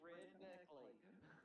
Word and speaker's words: Red Neckley: It's Red Neckley. Good, it is Red Neckley. Like as in redneck.